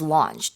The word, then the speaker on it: launch: And to launch something, Yeah, so here, when they say that the chart was launched or the charts launched back in 1956, it means the chart began or it started.